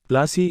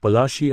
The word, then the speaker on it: Palashi: plasi got its name plasi is an anglicized pronunciation of palashi and a place derived